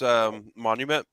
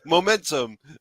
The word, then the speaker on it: Monumentum: I'm really digging this Monumentum, Monumentum, yeah. Monumentum. Okay, that's why I was reading it wrong both times. Momentum. Oh wait, no, I'm not looking at all the syllables together.